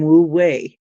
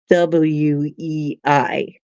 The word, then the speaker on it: wu wei: I looked up the term wu wei, not spelled the same. It's spelled something like WUWEI, wu wei.